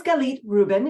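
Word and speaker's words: Galit Reuben: time so who am I my name is galit Ruben if you're not sure how to pronounce it I live in ohigh California I'm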